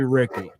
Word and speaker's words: Ricky: Real quick, Rickle Tungate. Do we have a pronunciation guide on that one? It's actually Ricky. I've asked him twice before he's told me it's Ricky.